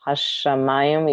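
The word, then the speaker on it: השמים: Sometimes that's a difficult thing with students, so they tend to overpronounce because they think you have to say hashamayim, but it's hashamayim. You kind of like it kind of lengthens the sound hashamayim, but not hashamayim because this doesn't sound good.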